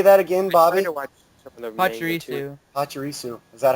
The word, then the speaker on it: Pachirisu: Pachirisu. Pachirisu. Is that how you pronounce that?